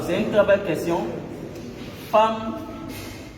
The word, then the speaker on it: femme: Femme qui s'écrit F-E-2-L-E, qu'on ne dit pas femme ou femme. On aurait pu écrire avec A.